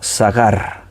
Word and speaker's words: sagar: cerró dice la puerta la palabra cerro en el hebreo se pronuncia sagarra y esa puerta sacar